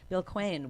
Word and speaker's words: Quain: Quain, it rhymes with Twain.